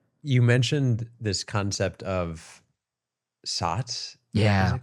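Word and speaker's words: Satz: saying that this moment, I think it's spelled S-A-T-Z, SOTS, or she pronounced it SOTS, right before we step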